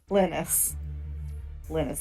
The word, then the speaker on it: Linus: Linus, like linseed oil.